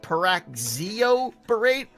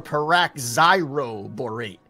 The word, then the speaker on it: paraxiroborate: Is it paraxioborate or paraxiroborate? Is there an R in there or not? Yeah, P-A-R-A-X-I-R-O.